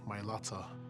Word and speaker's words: Mailata: Representing our family name, the Myata. Mhm. That's the correct way to say it, guys.